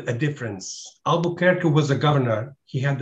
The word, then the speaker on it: Albuquerque: vasco de gama and i'll pronounce it the american way albuquerque how do you and